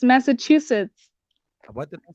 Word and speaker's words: Massachusetts: Did I pronounce it wrong? Yeah, it's Massachusetts. What did I say? That's what I said. Mr. Chusen.